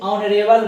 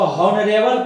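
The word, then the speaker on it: honorable: 11 number में कह रहा है कृष्णा इज ऑनरेबल मैन। देखिए इसमें भी कंफ्यूज आ जाता आदमी, यहाँ H आया है तो इसको हॉनरेबल पढ़ देता, हॉनरेबल इसका उच्चारण गलत है, ये बोला जाता ऑनरेबल।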